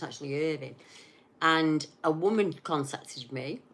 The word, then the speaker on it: Irvine: Still on the coast, still hugging the coast near Irvine, which many people pronounce as Irvine as that's how it's spelled, but it's actually Irvine.